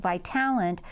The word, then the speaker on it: Vitalant: everybody changed over to one new name pronounced by talent so that people would